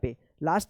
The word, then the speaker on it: place: देखिए यहाँ पे लास्ट में ई आया है और ई से पहले वाला जो वोवेल है ए आया है तो इस ए का क्या उच्चारण होगा, ए होगा, और इस ई का कोई उच्चारण नहीं होगा। क्या पढ़ेंगे, प्लेस।